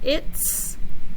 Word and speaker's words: it's: And then we have it's, and you can hear S at the very end.